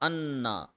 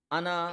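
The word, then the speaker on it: أنا: बेशक इनना और अन्ना इन दोनों का मतलब होता है वेरीली बेशक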